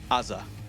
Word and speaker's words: AZR: But it's Azza is the way that I think Chad says it.